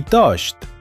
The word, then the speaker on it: touched: Ambos terminan con el sonido de una té seca y explosiva. Washed y touched.